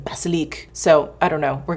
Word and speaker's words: Basilic: And I looked up uh this gentleman who just had like this beautiful French accent and he said the mandarin baselik. So I don't know. We're gonna go with baselik.